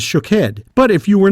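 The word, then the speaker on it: שֹׁקֵד: variation on the pronunciation almond is shakhed and watches shook head but if you were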